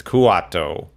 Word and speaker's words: Kuato: I keep pronouncing it Kato. It's Kuato.